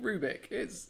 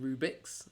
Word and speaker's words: Rubik: saw a debate about whether tunic rhymes with Rubik, and I'm saying, and it rhymes. Tunic Rubik. I think it's because they're thinking Rubik's, which is not. His name is Rubik. His name is Rubik. No, Rubik.